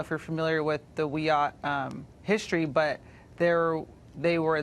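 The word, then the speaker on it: Wiyot: Way Madison Flynn is a member of the Wyatt Tribal Council in California and she joins us tonight Madison thanks for coming on hi um thank you for having me it's pronounced we ought oh I beg your I beg your pardon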